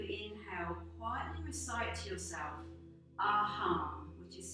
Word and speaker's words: Aham: So in a moment, we're going to quietly recite a beautiful mantra called Aham Prima.